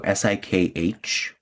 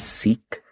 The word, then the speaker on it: Sikh: SIKH, you might know it or commonly hear it pronounced as Sikh, the Sikh people.